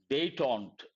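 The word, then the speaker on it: détente: on the higher side day taunt how do you pronounce this day Taun part of speech noun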